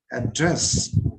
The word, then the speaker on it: address: in case of noun so here address if you know what is your current address so ad is stressed syllable year but dress is not unstressed syllable here again you see if